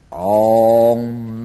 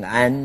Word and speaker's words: Om: 大明咒，不要念成安哦，第一个字 Om，头部发音。